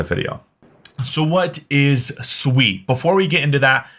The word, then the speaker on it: Sui: first off what is sweet and first off what's how is it pronounced it is Sweet It Is Not sui I've been corrected multiple